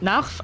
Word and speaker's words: Narv: So we pronounce it Narf. I don't know how he pronounced it in English.